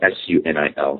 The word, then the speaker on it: Sunil: And my name is su nil.